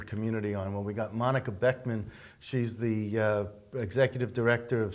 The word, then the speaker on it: Monika Boeckmann: And I pronounced the name right? You did, okay, absolutely.